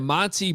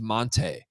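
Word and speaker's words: Montee: was his senior year he's like no actually my name's Monte Monte ball you guys are pronouncing it wrong this entire time and I'm like well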